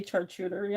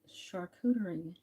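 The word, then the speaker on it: charcuterie: Um, I know somebody who used to say chartery all the time and it really bothered me because I would say shuderie, you know, like nonchalantly.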